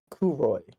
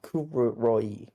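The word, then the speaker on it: 黒井: Kuroy. I think I said her name wrong. but Kuroi, something like that, who is her like maid or handler or guardian, Riko's guardian.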